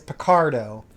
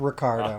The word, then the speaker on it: Picardo: I'm not 100% that it's not Richard because I've been drinking, but his last name is Picardo, not Ricardo. Oh. Because that's okay. easy to remember because it's Picard.